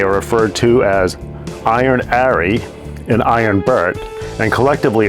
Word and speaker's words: 'Arry: burn Harry's name is actually Harry but the pronunciation of Arie implies it's being spoken in a British accent